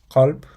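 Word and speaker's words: قلب: The example word for heart, which is qalb, is the perfect way to pronounce it.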